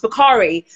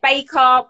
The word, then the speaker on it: Bukhari: get a lot because my surname is pronounced bukhari but i get baker baker the key and i you know